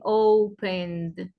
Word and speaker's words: opened: Es decir, que yo digo en presente digo open y en pasado voy a decir opened. Ya no como T, sino como D.